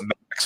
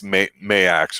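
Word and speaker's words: Maax: And it's not Max, even though it's spelled that way. It's Mayax or something like that.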